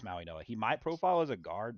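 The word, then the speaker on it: Mauigoa: I don't know how to say it. Yeah, it's Maui Noah.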